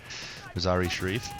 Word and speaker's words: Mazar-i Sharif: Yeah, I think the E is the E is said quicker. Mazar-i Sharif.